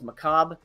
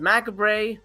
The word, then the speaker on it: macabre: love when uh you know the word is macabre and people pronounce it Macabre I've heard Macabre macabre uh it's Macabre but here is because